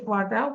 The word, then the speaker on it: water: তাহলে এটাও করব, ওয়েট ওয়াটার, ওয়েট ওয়াটার, মানে ওয়াটার আর এর উচ্চারণ করবো না, don't pronouns are, just wet water, wet water, wet water,